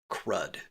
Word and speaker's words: CRUD: Those letters are CRUD, lovingly pronounced CRUD.